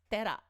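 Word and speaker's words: 寺: Okay, so by itself this is pronounced read as, this is read as tera.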